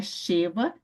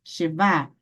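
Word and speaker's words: שווא: A sílaba tônica está no final, tá, pessoal? No final, não é Sheva, e sim Sheba.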